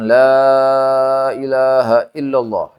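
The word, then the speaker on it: لا إله إلا الله: Barang siapa yang mengatakan mengucapkan la ilaha illallah wa maddaha dan membaca dipanjangkan la ilaha illallah. La ilaha illallah. Jadi dipanjangkan membacanya itu.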